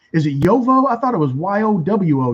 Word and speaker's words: Jowo: Sorry, J-O-W-O is pronounced Yovo. Okay. I didn't know that. I thought it was Yowo, but okay.